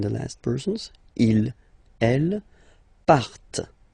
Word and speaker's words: partent: Okay, and the last persons, il, elle, partent. Remember, classic ending, ENT, but then you don't pronounce them, partent, partent.